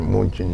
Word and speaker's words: München: Munich is what they pronounce it München or something like that.